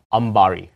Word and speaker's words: Ambari: Ambari.